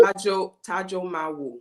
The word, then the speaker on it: Tajomavwo: Tajomavwo. So that V is silent. It trips everybody up.